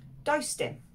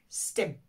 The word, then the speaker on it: does dim: Does dim. Does dim. Iawn. Does dim sometimes ar lafar when spoken is pronounced as stim.